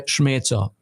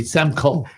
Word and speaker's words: Smeco: Taxes by Schmetzo. Schmetzo. You did good. Schmetzo. Schmetzo. Yeah, you did really good. It's spelled SMECO. So this Chicago boy would say Semco.